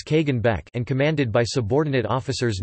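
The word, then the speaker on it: Kagan Bek: armies were led by the kagan beck pronounced as kagan beck and commanded by subordinate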